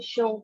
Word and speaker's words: should: some little problems here we should remember the ell silent we should talk about